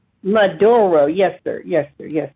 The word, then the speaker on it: Maduro: But what I'm trying to say is this this president of Venezuela, um, Monero, can you pronounce his name? Reb Maduro. Maduro.